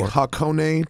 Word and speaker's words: Hakone: The Hakone Turnpike. Did I pronounce that correctly?